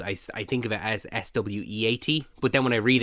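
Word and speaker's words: Corenswet: Cornsweet, whatever his name is pronounced. It's Sweat, is it? Sweet is 2 E's. Okay. Sweat is 1 E.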